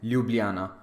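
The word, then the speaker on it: Ljubljana: remember in these countries the written J is pronounced like why so it is not SAR it will be Saro and lublana all right then next is Monte negro literally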